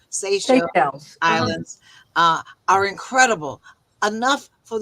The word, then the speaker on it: Seychelles: from the Philippines that the minerals under the Seychelles, I'm saying it wrong, Seychelles Islands are incredible, enough for the entire world.